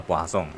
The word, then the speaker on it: Poisson: adalah distribusi poangong ya sebenarnya tulisannya Poison cuman bacanya aslinya adalah poong ya itu adalah bahasa Prancis Oke Nah di sini